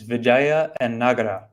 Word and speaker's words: Vijayanagara: The key to remember is that it's actually two words, Vijaya and Nagara.